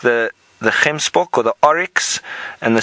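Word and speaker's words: gemsbok: same with Springbok and hem Spock or Oryx a lot of people find him spoke the word difficult to pronounce it's a little bit like you're going to spit now Jenny you're wondering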